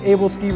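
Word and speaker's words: aebleskiver: these things are called able skivers i had problems pronouncing it but able skiers is the way to go what it basically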